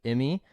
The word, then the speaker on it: Immi: am pumped today to have Kevin Lee of Emmy on the podcast and Kevin did I pronounce that right that's correct awesome there we